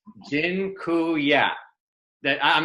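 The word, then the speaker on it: dziękuję: just taught you all the Polish word for thank you it's Jin ku yeah that I'm not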